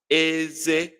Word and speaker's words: eze: It's pronounced as eze. Eze. Why the king that is high low is eze. Eze. King. High low. Teeth. Eze. High high.